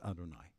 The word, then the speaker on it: Adonai: is Elohim right and one is the four-letter name yud which we just pronounce as Adonai right um now Elohim